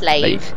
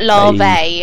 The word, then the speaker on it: Lave: So as far as I know, it's just lave instead of larvae.